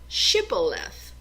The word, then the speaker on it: Shibboleth: They had to pronounce the name Shibboleth. And the Ephraimites could not pronounce the H.